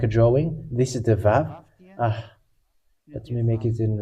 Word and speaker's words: vav: This is the Vav. Let me make it in red. This is the Vav. It is called Vav. It is pronounced as V, and this is how we write it in Hebrew.